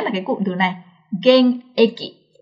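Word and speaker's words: 現役: cụm từ này là gen-eki. Gen-eki không được đọc là " geng-juku," mà là "gen-eki," thường dùng để chỉ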